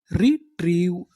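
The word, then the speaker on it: retrieve: तो इतनी मीनिंग रिट्री और आगे लिखा है वी ई इसे क्या पढ़ेंगे व क्योंकि आपको पता है कि इ का उच्चारण हमें करना नहीं तो हमारी पूरी मीनिंग क्या बनी रिट्रीव रिट्रीव रिट्रीव का मतलब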